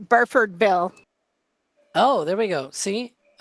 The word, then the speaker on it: Burfordville: I don't know how to pronounce the location though. Barfortville.